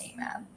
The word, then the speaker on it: AMAB: at birth, for which the acronym is AMAB, pronounced AMAB.